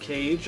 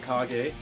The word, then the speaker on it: Kage: Some people call it The Legend of Cage, I call it Kage, because it looks, like Japanese. That's how they would pronounce that, I guess.